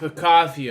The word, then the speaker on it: Picasso: Artist of the week, Picasso. It's pronounced Picasso, okay.